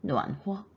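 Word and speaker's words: 暖和: 比昨天暖和. 호어 경성입니다.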